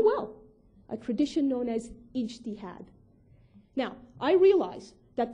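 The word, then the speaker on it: ijtihad: a tradition known as inad now I realize that this word sounds frighteningly like Jihad to a lot of non-arab ears and let me be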